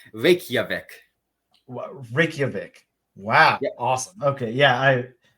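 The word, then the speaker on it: Reykjavík: it's pronounced Reykjavik.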